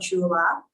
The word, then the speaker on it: Xula: But as for women's health issues, I do have a favorite brand called Chula. It's spelled Xula.